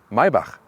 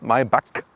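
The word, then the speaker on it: Maybach: s-class segment and mybach listen and repeat maibach not my buck because the germans they have this ch as so and the ultimate german pronunciation would be mercedes maiba that's it so now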